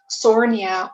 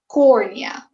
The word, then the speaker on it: cornea: So it will not be sornia or hornia, but it will be cornea.